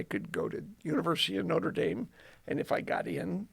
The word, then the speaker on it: Notre Dame: you say it correctly is it notra Dame no it actually the technical name for it is the University of notredam Dak ah there are two